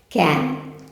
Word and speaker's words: can: Can. Levante a língua no céu da boca. Para diferenciar aí o M do N em inglês.